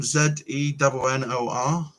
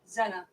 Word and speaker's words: Zennor: Zennor. You got a church with that same blooming name. Zena, it sounds like.